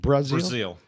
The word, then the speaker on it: Brazeal: pronounce your last name Brazil just like you pronounce the country yes gotcha spelled different but pronounced the same we'll get back to